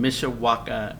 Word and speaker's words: Mishawaka: We have in the house today Matt and Leah Poorman, lead pastors of Cornerstone Church in Mishawaka, Indiana.